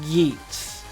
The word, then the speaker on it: Geats: off with Kamen Rider Geeks or I'm pretty sure it's Geeks because I pronounce it like that in the show so Kamen Rider Geeks